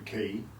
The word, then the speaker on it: Quay: So we're in this office, and they're talking about the project was called The Key. Yep. Which was it's like said in Talkie, The Key. Oh yeah. Spelt Quay, pronounced key.